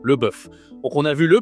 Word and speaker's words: bœuf: cette viande, c'est le bœuf. Bif en anglais, le bœuf. OK. Toujours le e comme l' œuf, la même voyelle pour prononcer ce mot, le bœuf.